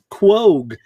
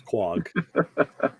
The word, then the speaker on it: Quogue: well you know like they gotta print like say quag it's like quogue like no it's quag yeah all the names